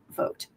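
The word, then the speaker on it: Vought: It's spelled like va, but vote.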